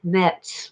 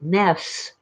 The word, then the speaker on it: Metz: Well, Metz, the Germans pronounce it Metz with the T. The French usually call it mess without the T, like MESS, mess.